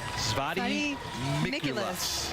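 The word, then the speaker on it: Svatý Mikuláš: Svati Mikulas. Yes. Yeah, okay. Rhymes with Nicholas.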